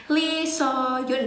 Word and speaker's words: Lee Suhyun: Nah, untuk hari ini aku bakal nge-react punyanya Lee Soyun ya bacanya, punyanya YG itu, yang punyanya Akmu Musician, tapi ini ceweknya.